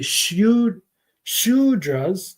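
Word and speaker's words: Shudra: bet you didn't know sudra is actually sh sudras there's a tiny little sh there in that word should be uh but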